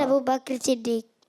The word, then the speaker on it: ابو بکر صدیق: حضرت ابو بکر، حضرت ابو بکر صدیق۔ قاف بھی ساکن ہے، تھوڑا مشکل ہے، ابو بکر۔ بہرحال بات تو وہی